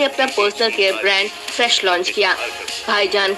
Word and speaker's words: FRSH: एक brand launch किया है हाल ही में, उसका नाम है फ्रेश। और फ्रेश की स्पेलिंग सुनो, FRSH।